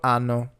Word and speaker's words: hanno: Io ho, tu hai, lui ha, lei ha, noi abbiamo, voi avete, loro hanno. In all cases, we're not pronouncing a single H. The H, as we said before, is always silent.